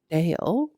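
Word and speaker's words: Dail: So this name, it's a female, but it's spelled D-A-I-L. Dale, right?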